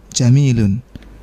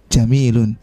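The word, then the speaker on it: جميل: itu beda lagi ya itu bacanya jamalun pendek semua artinya apa onta Kalau yang ini jamilun artinya bagus kalau seandainya kita baca alqamaru jam Madun warna tibumana hanya salah ya bulan itu onta adanya ya ini enggak nyambung mananya ya alqamaru jamilun bulan itu bagus selanjutnya yang ketujuh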